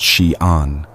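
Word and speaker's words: Xi'an: In March 1974, in a droughtscorch village outside the city of Xian, pronounced Xian, a farmer named Yang Jifa was digging a well.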